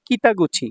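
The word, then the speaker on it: 北口: Gate হিসেবে কুচি উচ্চারণ হয় নাই। গুচি উচ্চারণ হইছে। তাহলে এটা হলো কিতাগুচি।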